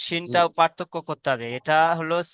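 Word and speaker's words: شين: শিনটা পার্থক্য করতে হবে। এটা হলো সিন আর এটা শিন। এই অক্ষরটি কি হলো? শিন। শিনটা মোটা করে উচ্চারণ করেন।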